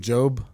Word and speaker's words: Job: about the story of Job? Mhm. Is his name spelled like Job. Job. That's a like Where's the E? It should be J O B E.